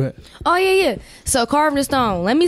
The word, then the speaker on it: CarvdNStone: oh yeah yeah so carving the stone let me spell it out for y'all so it's c-a-r-v-d and like Naisha and then Stone carved in stone like you carving something in stone and then so make